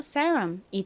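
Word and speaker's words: serum: 모음이 왔죠 이럴 때는 S 좀 세게 거의 쌍시옷 가깝게 발음이 된다고 말씀드렸고요이는 무슨 소리 나나요에 소리 나죠 은요 리을 소리 유는 어은 미음 받침 그래서 세럼이 됩니다 세럼은 어떤 제품이라고 말씀드렸죠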